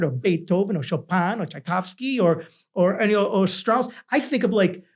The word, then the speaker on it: Tchaikovsky: How do you pronounce his name? Tchaikovsky.